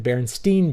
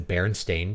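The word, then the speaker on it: Berenstain: the baron stein bears I thought it was the baron stein bears but I remember the barenstein Bears from before I could read and my mom may have said it wrong right and you go and look it's the baron stain Bears okay barenstein is a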